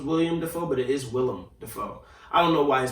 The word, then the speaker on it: Willem Dafoe: but anyway alec baldwin willem dafoe who i just learned how to say his name correctly if you just heard me i was about to say it incorrectly again i thought it was william defoe and i'm sure a